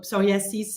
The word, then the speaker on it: psoriasis: hard for me uh because it's just not where we put the accent in French so sasis is how we say it in French psoriasis so every time you hear psoriasis just remember it's my